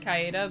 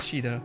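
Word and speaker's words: Shiida: Yeah, I guess the Japanese would pronounce that Shida, maybe. Yeah. And then in some translations, it's written like S-H-I-I-D-A, Shida. So I guess it's Shida, no matter what.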